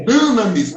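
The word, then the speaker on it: Dynamis: Teologia de Línguas Bíblicas, Dinamis, né? Dinamis. A pronúncia tá correta mesmo? Dinamis? Aqui, a pronúncia é Dunamis, mas tá tudo certo.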